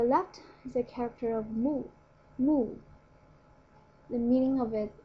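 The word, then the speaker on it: 木: right so the left is a character of moo moo the meaning of it is wood or tree the right part is pronounced as Tai Tai as you can tell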